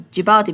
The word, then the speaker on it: Djibouti: It seems to be a country, but we pronounce it as Djibouti because D is a silent D.